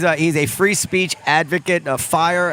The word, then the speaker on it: FIRE: But he is a he's a free speech advocate, a fire as the acronym is pronounced.